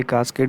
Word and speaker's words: cascade: इस वीडियो में हम पढ़ेंगे कास्केड कंट्रोल सिस्टम। कुछ लोग इसको कैस्केड कंट्रोल सिस्टम भी प्रोनाउंस करते हैं, तो दोनों जो प्रोनाउंसिएशन है, आइदर कास्केड कंट्रोल सिस्टम और कैस्केड control system, both are correct.